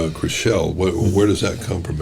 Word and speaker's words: Crixell: It's spelled, I believe it's Crixell, and it's pronounced Crixell, as I was told over there.